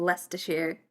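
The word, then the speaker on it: Leicester Square: love from Lester Shear. I love the way that Lester Shear is spelled. It's It's spelled Lifeershar. It's like the Worcester sauce situation.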